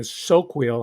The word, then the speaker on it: Soquel: in a mountain area soquel i think it's pronounced s-o-q-u-e-l a wealthy a well-to-do